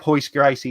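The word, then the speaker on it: Royce Gracie: By the way, if you're looking up Hoist Gracie, it's spelled Royce.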